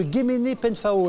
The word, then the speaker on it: Guéméné-Penfao: Alors, je ne vais pas dire de bêtises, mais au collège de Guéméné-Penfao, est-ce que ça se prononce comme ça? C'est drôle, c'est une espèce de culbute de syllabes avec des voyelles, et ça amuse toujours.